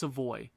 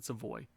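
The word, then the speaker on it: Savoie: does Matthew SEO SE it's not it's seavoy I I'm pretty sure I've been mispronouncing it for years and people pronounce it seavoy Matthew seavoy uh 21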